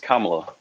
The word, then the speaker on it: Kamala: You didn't say her name correctly. It's Kamla. Kamala.